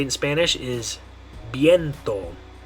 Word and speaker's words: viento: And the way you're going to say it in Spanish is viento. Viento. Viento. Okay, so in English we'd probably say viento or something like that. But in Spanish you're going to say viento. Good.